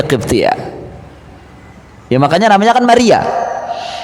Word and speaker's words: Maria: Ya makanya namanya kan Maria, bukan Maryam.